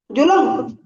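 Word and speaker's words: ज़ुल्म: जब्त सर हम्म उसके बाद में सर जा उलम, जुलम। जो नहीं, जुलम नहीं पढ़िएगा। लाम को जो ना लाम के बाद साइलेंट हो जाएगा, ZOLM, जुल्म पढ़िएगा, क्योंकि यहाँ अच्छा, जज्म है।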